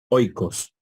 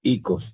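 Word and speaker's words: οἶκος: Por ejemplo, casa en griego, oikos, oikos. En nuestro sistema de pronunciación, en el otro diríamos icos, ¿no? Entonces no habría ningún dictongo.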